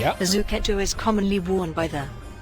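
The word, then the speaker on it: zucchetto: And uh, yeah, good pronunciation on the Zuketto.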